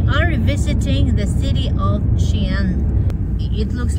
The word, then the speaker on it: Skien: it's ki yen it's xi'an because the k is followed by letter i we had some american guests at our home a few years ago and they insisted on pronouncing the city ski yeah no matter how